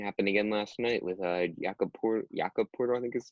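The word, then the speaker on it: Jakob Pöltl: Same thing happened again last night with Jakob Porter, I think is how you pronounce it.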